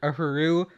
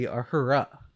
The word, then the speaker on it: Uhura: Like originally they were going to name the character Uhuru, but Nichelle Nichols was like, no, that's like the male pronunciation of that. The female would be Uhura.